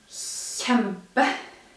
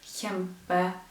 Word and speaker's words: kjempe: So what you've probably noticed is that in both of these two writings there is no S. While with the sound that you find in English, the sh sound, you have S KJ, SK, SJ. That's a way to remind you that those three sounds, well, those three writings are pronounced in the front of the mouth, where you pronounce the S.